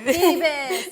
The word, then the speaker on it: Phoebus: And this is historic series of the, let me see if I can say it right, Phoebus Come Alive. Phoebus, you said it right.